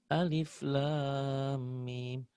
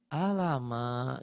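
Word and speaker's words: الم: Tiba-tiba dia baca Quran kan harusnya alif lam mim. Karena dia nggak tahu bacanya alama gitu.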